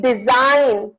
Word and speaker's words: design: is no C sound in design there is no G sound so G is silent in listen there is